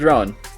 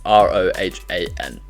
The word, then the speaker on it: Rohan: Rowan works fine, Rohan works fine, but it's Rohan.